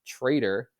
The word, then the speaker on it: tr808r: But yeah, this week he's back and even made the highlights this week with a new package, which is pronounced Trader, TR808R.